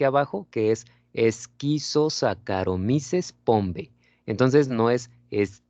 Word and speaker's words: Saccharomyces: vinos ok por ejemplo si ustedes ven ch se pronuncia como acá vale entonces no se dice saccharomyces se dice sacar o misses si ven ustedes se